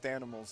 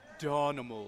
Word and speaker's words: Danimals: That's Danimals. Danimals is what you're thinking. Well, depending on where you're from, it may be pronounced Donimals.